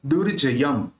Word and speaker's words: दुर्जय: साथ लेंगे दर् दर्प दर् दर्प मति दुर्जय ये जो रेफ है उसको र के साथ जोड़कर बोलेंगे तो दुर्जय त्रैलोक्य निर्ज